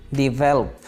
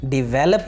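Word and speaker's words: develop: तरक्की की इंग्लिश होती है डिवेल्प, डिवेल्प, डिवेलप नहीं है ये लफ्ज़, बल्कि डिवेल्प, डिवेल्प।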